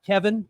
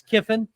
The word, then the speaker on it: Kiffin: And you can see it spelled with two I's. He's not Kevin, it's Kiffin.